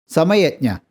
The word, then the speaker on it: Samayajna: Samayajna. This name can be pronounced in 2 ways, as Samaya and Jna, or as Sama and Yajna.